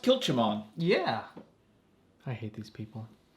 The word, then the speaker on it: Kilchoman: machula bay coral line i think it's pronounced kilchimon yeah i hate these